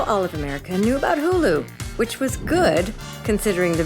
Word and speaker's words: Hulu: People stopped pronouncing it as hula, which was a nice change. Now all of America knew about Hulu, which was good, considering the very next year the subscription service would go live.